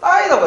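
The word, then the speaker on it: 大: 우리나라가 이제 대에 있는데, 대라고 하면 이제 중국에서는 이거 뭐라고 읽어요? 따이라고 하죠, 따이.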